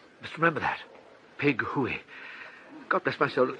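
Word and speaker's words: Pig-hoo-o-o-o-ey: The first syllable should be short and staccato. The second long and rising into falsetto. High but true.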